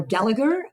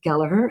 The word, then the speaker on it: Gallagher: that I mean he's not upset when people pronounce the name differently but he's quite it is galur it's not gagers or Gallagher so that's something that they teach us when